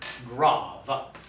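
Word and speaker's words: grave: known as the graph looks like grade but it is pronounced grav it is going to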